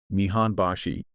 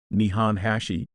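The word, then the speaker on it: 日本橋: bana for smoother pronunciation similarly the famous nian Bashi Japan bridge is pronounced as Mian Bashi rather than nihan Hashi following the same principle to ensure a smoother and more harmonious as we've seen Japanese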